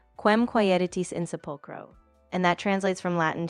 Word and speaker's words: Quem quaeritis in sepulchro: So the pronunciation would be something like Quem quaeritis in sepulchro.